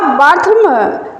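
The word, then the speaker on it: Bartholomew: और द बार्थलोमो comedy 1614 में लिखी गई। बार्थलोमो अगर हम ऐसे इसका प्रोनाउंसिएशन करें वैसे पढ़ा जाएगा बार्थलोम।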